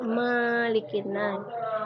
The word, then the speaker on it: Malikin Nas: Biasanya ibu mendengar anak-anak membaca Malikin Nas. Di huruf ma itu tidak panjang. Kita membacanya seperti biasa, Malikin Nas.